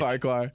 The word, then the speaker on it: Farquhar: Farquhar. Farquhar. Is that how you spell it?